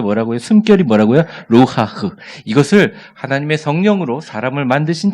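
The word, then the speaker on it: רוּחַ: 루하흐. 좀 칵 소리가 나도 되고 침이 나도 되고 루하흐 이런 말인데 루하흐 이런 말인데요.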